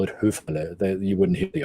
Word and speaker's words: Höfele: So they mispronounce my last name as Hüfele or Hufele or all sorts of things. So the proper pronunciation would be Höfele.